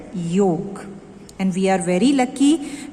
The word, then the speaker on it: योग: Very first chapter, chapter 1, internal organs of Ashtang Yoga. Okay, now आपने जो word सुना है that is योगा. Okay, but actually in Sanskrit, the correct pronunciation is yog.